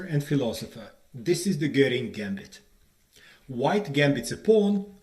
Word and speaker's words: Göring: In Britain and America, chess players deliberately pronounce his name as Göring to distance it from Hermann Göring.